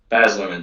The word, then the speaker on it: Baz Luhrmann: I hope I'm pronouncing this correctly. Baz Luhrmann. Is that Baz right? Luhrmann. Baz Luhrmann.